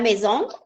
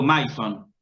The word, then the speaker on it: maison: de francés y digo maison. ¿Qué tengo que aprender? ¿Qué me dice el francés indirectamente a través de esa palabra? Que la unión de la letra A más I se pronuncia E, por ejemplo.